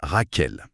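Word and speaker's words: רחל: Et si on applique ça au premier personnage Rachel, le nom hébreu se prononce Raquel.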